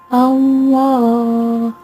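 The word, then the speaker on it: الله: Jadi cara membacanya adalah tipis dan panjangnya 2 harokat. Allah, Allah, seperti itu.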